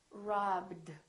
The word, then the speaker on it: robbed: is not a t this one is robbed robbed so this one becomes a d so we have three